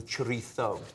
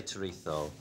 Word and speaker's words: chorizo: Okay, so we're going to make a seared salmon and chorizo salad.